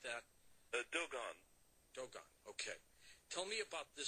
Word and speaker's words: Dogon: Do they pronounce it like that? Dogon. Dogon, okay.